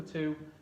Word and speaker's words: two: to to this to the number two has that silent w in there next we